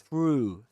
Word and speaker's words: through: So this word begins like this th through through through the wash through the wash through the wash. One of the keys to be able to pronounce the first word is to do this with your lips. Ooh. Push them forwards. You say through. Through. Through. Don't forget about sticking your tongue in between your teeth.